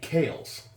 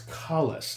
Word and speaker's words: Collis: I was calling it Kales, like Zales, and I saw it was Collis, like Khaleesi from the Game of Thrones, the smoking hot chick with dragons.